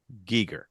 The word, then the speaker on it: Giger: so I need to know how do you pronounce your name he go and he goes Giger really straight from the horse's mouth okay so I a lot of people say guer so here's why because one of his books